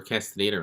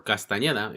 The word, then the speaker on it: Castañeda: So what is going on with Salvador Castaneda right now? Or Castañeda, as you would say it properly, but it doesn't matter.